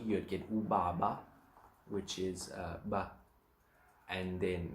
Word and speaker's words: ubaba: So it's more pronounced and heavier, more air coming out of your mouth when you're saying that.